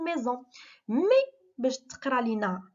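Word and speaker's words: maison: اون ميزون، الوغ اس ملي كتكون بين دو فوايل، اي باغ اكزومبل او كتقرا زاد، كتقرا ز، داكوغ. اون ميزون، ما قلناش اون ميسون، قلنا اون ميزون.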